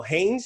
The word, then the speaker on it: Haynes: your last name well haynes is that what you say you pronounce it that that's right cool so landon haynes